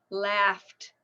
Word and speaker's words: laughed: because it's a GH but the last sound is a an F sound none unvoiced laughed laughed I laughed so